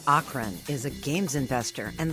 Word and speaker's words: Achrén: Achrén.